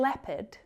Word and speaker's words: leopard: There's also a silent O in leopard and jeopardy.